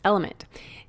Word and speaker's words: LMNT: It's spelled LMNT, but pronounced Element.